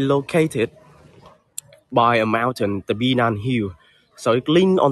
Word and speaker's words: Penang: It's spelled Penang, but it's pronounced Penang.